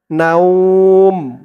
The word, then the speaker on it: نوم: তা ওয়াও দুই পেশ, তু সিনা তু, ওয়ালা ওয়ালা, লা একালিফটান, সিনা তু ওয়ালা, লা তাখুযুহু সিনাতু ওয়ালা নাউম, না উম, এখানে উচ্চারণটা হবে নাউম।